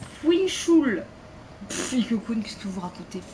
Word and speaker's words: Fischl: Alors, Fischl, ça se prononce Fuinchul.